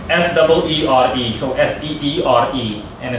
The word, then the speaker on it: Seere: His name is pronounced, or spelled better said, S-E-E-R-E, so S-E-E-R-E, and it's pronounced Seere or Seer, whichever way you want to pronounce it, but I'm going to stick with Seere.